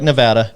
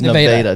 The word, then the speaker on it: Nevada: the town called Nevada spelled like Nevada not you can't say you can't say Nevada it is no data don't mess it up and uh uh but